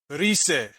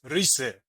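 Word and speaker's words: ῥῦσαι: In the modern, this word is pronounced rise. You see there's no omicron in front of it, right? It's pronounced rise. And it should be the same whether it's modern or kini.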